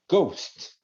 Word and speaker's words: ghost: vamos entender o próximo o GH no início da palavra ele vai ter um som de G então no geral se